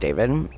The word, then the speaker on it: d4vd: So, this guy David, his name is spelled like DV4 D, but it's pronounced David.